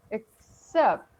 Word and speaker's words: except: In the first word, it's, you need to split those C sound because the first, C sounds like ek, and the second sounds like se, except.